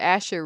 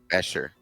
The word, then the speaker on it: Escher: went down to the Asher room, there was another room we checked You on. keep saying his name wrong. Escher. Escher room, and I said it the whole last session too.